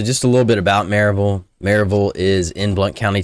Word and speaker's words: Maryville: one thing to note here the proper uh pronunciation of Maryville might be Maryville but all the locals call it Maryville so if you refer to it as Maryville